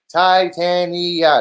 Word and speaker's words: Titania: We have Titania. Titania, that's how it's pronounced.